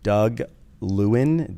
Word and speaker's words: Doug Lewin: today I'm joined by a wonderful guest Mr Doug Lewin did I pronounce that right Doug you got it you